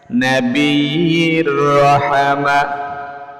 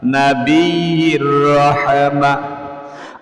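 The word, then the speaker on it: نبي الرحمة: এরকমভাবে দরুদ শরীফটা সহি শুদ্ধ উচ্চারণে শিখুন আল্লাহুম্মা সাল্লি আলা নবী রহমা। আল্লাহুম্মা সাল্লি আলা নাবির রহমা আল্লাহুম্মা সাল্লি আলা নাবির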